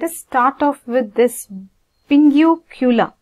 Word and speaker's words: pinguecula: start off with this Pingu cooler right how do they pronounce this listen to the pronunciation Pingu Killa okay so basically in